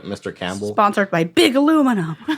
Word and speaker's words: aluminium: sponsored by big aluminum aluminium alumin that's how they say it across the pond they also spell it different I think I think it's spelled the same way we just don't pronounce that eye is it I believe